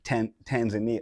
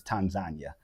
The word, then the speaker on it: Tanzania: Yeah, it's just like people been killing Tanzania. It's not Tanzania. It's Tanzania.